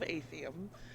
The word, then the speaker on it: Athium: Also, I'm gonna be pedantic as fuck and correct you on how my show is pronounced. It's the Veil of Athium. Athium.